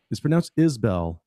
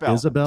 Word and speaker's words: Isbell: By the way, it's pronounced Isbell, not Isabel.